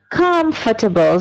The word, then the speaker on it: comfortable: don't say with me S for me and pronunciation comfortable the first syllable is stress and this word